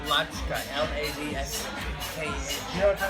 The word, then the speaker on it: Ladska: Latska. Yeah, I'll say what it is. But anyway, Keoki was there. Rhymes with vodka.